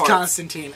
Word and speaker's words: Constantine: it's Constable not conable con you're putting the emphasis on the wrong it's Constantine um just so everybody's getting